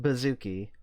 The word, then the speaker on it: BZKI: We're going for BZKI, but pronounced Bazooki. I'll pronounce it the way I want to pronounce it. Buzzi. Bizi.